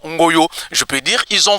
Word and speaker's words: Ngoyo: Donc au lieu de dire Ngoyo, ils en ont changé, c'est maintenant Ngoyo.